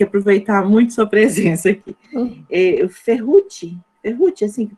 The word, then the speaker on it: Ferrucci: Ferrucci, assim que pronuncia?